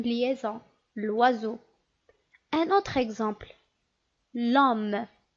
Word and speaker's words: l'homme: Est-ce qu'on peut dire et prononcer l'homme de cette façon? Le homme. Tout simplement non. Pourquoi? C'est le deuxième cas parce qu'on a dit que l'homme ici commence par un H muet.